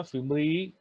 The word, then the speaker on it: fimbriae: Yes, these finger-like projections are called the fimbriae. ठीक आहे, सगळ्यांनी स्पेलिंग लिहून घ्या. फिम्ब्री, फिम्ब्रे इंडियन प्रोनाउन्सिएशन मध्ये.